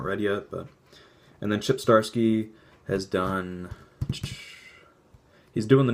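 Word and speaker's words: Zdarsky: Fraction and Shipp Starsky I think that pronounced Starsky Matt Fraction was on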